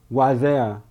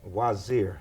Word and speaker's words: Wazir: have with me brother waizea am i pronouncing it right uh not exactly okay help me it's wazir wazir okay i do want to